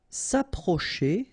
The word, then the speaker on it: s'approcher: this final parêtre paraître s'approcher de OK c say and h together sh and then e r at the end et che s' approcher